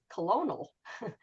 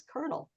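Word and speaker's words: colonel: One word that really gets them is the word kernel because you know if you want to go by how it's spelled it's colonial but we all pronounce it as kernel.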